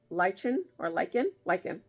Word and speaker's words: lichen: This one's called lichen. The CH makes the K sound, I guess, in this word.